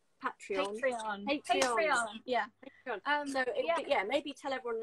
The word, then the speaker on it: Patreon: And I always say it wrong. Not, it's Patreon.